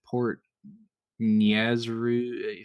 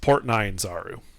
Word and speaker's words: Port Nyanzaru: It's Port Nyanzaru. What? Nazru? Nyanzaru. Yes. Nyanzaru. Me and pronunciation go very, very well together, right under.